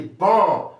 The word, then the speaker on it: bon: So, because of this O-hen, you have what? You have bon. Bon. So, if you want to transcribe this, you have B and on.